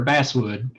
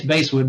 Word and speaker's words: basswood: polite fights with people who want to pronounce it either basewood or basswood i say it's basewood because the wood was originally harvested for uh woodwind instruments for and base instruments well one another one